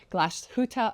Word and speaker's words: Glashütte: new brand for us here Oliver Smith Jeweler gluta original perfect pronunciation thank you I was going to say